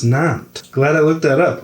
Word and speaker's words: Nantes: It's pronounced Nantes.